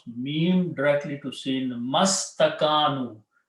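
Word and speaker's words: ما استكانوا: meme directly to sin mastakanu. You do not pronounce this alif and this alif. Okay. You leave them written there, except that this changes into Hamzatul Wasl. So it becomes mastakanu.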